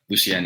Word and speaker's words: Lucien: up, like a lot of people will mispronounce it. So we just tell everyone just to say Lucien. So I guess you could, pick whichever one feels better for you, but Lucien is the proper way to say it.